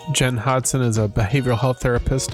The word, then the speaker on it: Hodgson: you say your name Jen Hodson so the the g is silent thank you well it's